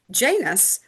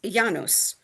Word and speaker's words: Janus: On the first day of the new year, on birthdays and beginning any endeavor, Janus, more properly pronounced Yanos, received an offering, usually a simple cake called libum, and wine, as in the following from Kato's work, de agricultura.